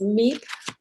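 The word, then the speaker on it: MAEAP: we're going to talk about is called it's meep that's how we pronounce it it's michigan agriculture environmental assurance program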